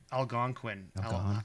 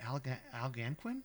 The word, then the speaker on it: Algonquin: Algonquin. How How did I pronounce it? Alanquin.